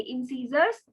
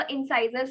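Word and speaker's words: incisors: इंसीजर्स, sometimes इसको इंसाइजर्स भी बोल देते हैं, बोथ आर करेक्ट।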